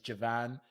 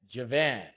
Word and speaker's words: Joivan: How you pronounce my name, for those of you who don't know, is Joivan. For the US, it's like how y'all say Japan, Bro. but with a V. Japan, Joivan.